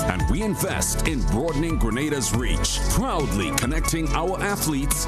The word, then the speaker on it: Grenada: It's not Grenada. It's Grenada. Now, say it right.